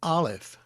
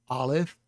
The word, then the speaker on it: Aleph: This is a Segol under the Lamed and the Kamatz under the Aleph. This is the key to helping us pronounce the word. The Kamatz has an ah sound, and so does the Patak.